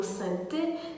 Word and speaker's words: sainteté: Même cas de figure pour le mot sainteté qui s'écrit S-A-I-N-T-E-T-E, se divise en 3 syllabes, saint-te-té, mais se prononce sainte-té.